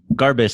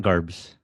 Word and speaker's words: Garbez: Garbez, not Garbes. Not Garbes. Never Garbes. Always two syllables. You can say Garbez, Garbez, but never Garbes.